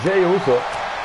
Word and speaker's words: Jey Uso: Qui bisogna fare un po' attenzione, perché Jey Briscoe e Jey Uso si scrivono in maniera diversa, ma si pronunciano uguale.